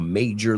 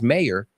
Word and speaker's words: major: Y quiero que pronunciéis esta conmigo, por favor, porque no es mayor, major, ¿ok?